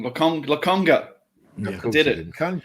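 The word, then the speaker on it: Lokonga: thought, I can't wait to play with Tavares, Longaka, and fucking John Tonkotsu. Tomiyasu, even I've learned I don't even think I got Longaka's name wrong. Lakonga.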